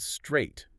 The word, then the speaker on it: straight: What about straight? S T R A I G H T The A I G H is completely silent. It's just one syllable. Straight.